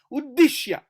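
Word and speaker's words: उद्दिश्य: Partham prapannam uddishya. Okay. This is how it comes. I will show you the bigger picture. It will uddishya, da for d, and dakara and vattu means emphasis on dakara.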